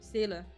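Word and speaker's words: Seele: single Target damage but Sealy defeats Anonymous you will gain one extra turn or sailor if you want to pronounce the German she has a Sonic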